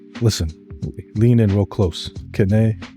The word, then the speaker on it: Kene: Kene is West African. You pronounce the name as you see it.